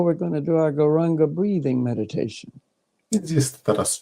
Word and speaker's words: Gauranga: We will divide it into 4 syllables, Gauranga.